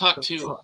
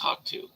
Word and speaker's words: HAWK2: Yeah, it's just HAWK2 apparently. Like cockatoo. But I guess just HAWK2.